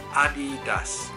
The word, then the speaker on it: Adidas: like leaders leaders right but actually the correct pronunciation is Adi does is a German name founder is at of